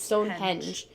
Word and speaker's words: Stonehenge: I always want to say hedge. Stonehenge. That's not it. It's Stonehenge. It's NG.